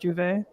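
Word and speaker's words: J'ouvert: I want to say it's spelled J comma not comma apostrophe Ouvert, if I'm not mistaken, but it's pronounced Juve.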